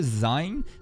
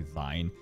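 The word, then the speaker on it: Sein: recruit a new member Z I know it says Zane but they pronounce it Z so I'm just going to say Z he's like a Healer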